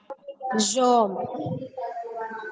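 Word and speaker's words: jambe: Devishri, can you pronounce jamb? Jom.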